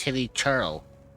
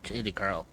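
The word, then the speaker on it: Hilichurl: Also, it's Hilly Churl, not Hilly Curl.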